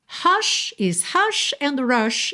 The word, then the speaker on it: hush: Mas se eu tiver falando inglês, hush is rush. Ok? O som do H em inglês é o r. E o som do R em inglês é o som da porta com a perna esquerda. É o som daquela língua enrolada.